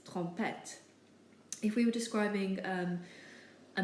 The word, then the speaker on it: trompette: The next word, trompette, ends with an E, so we pronounce the T's, trompette.